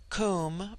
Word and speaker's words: Kum: immortal spirit, Vidya, immortality, Kum, pronounced like the Welsh coom, denotes something of hollowness.